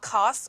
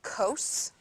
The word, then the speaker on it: cos: The second one is called cos, not cos, cos.